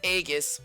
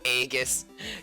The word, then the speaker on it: Aigis: for supporting Eric oh EGIS your name isn't supposed to be pronounced that way but it is because the dubbing poorly chose their way of pronouncing it some people are into